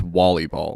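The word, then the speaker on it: wallyball: Ball, which, uh, which is the actual pronunciation. I thought it was a joke when I heard it at first, but it's Wally Ball.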